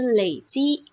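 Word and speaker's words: 累积: 好，第二，累累，当它读成累的时候呢，就是累积，累计，就是积少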